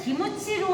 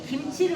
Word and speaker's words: 김치: 김치도 규격을 정했어요 그때 일본에서 기무치로 하려고 하는 거를 한국이 김치로 했다 우리 이겼다이 말 여러분들 기억나실 거예요 그 코덱스에서 기준으로 영어로 포기할 적에 김치로 했다라는 거예 우리 한국식의 발음으로 영어로 포기를 하는게 맞는 거예요 KCH 번 식으로 K 유 무가 아닌 김치로 올라갔어요 그럼이 글자 철자가 중요한게